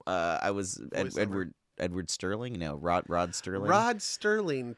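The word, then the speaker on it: Serling: No, Rod Sterling. Rod Sterling, 2 D's and a T. With 2 D's. And a T. Yeah, you pronounce the T because there is.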